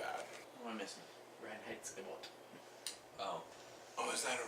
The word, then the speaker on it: Reinheitsgebot: Reinheitsgebot. Yeah, good pronunciation.